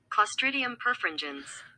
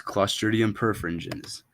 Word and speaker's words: Clostridium perfringens: per one second I gotta double check this pronunciation here clostridium perfringens is clostridium perfringens um in keeping with the clostridium theme perfingens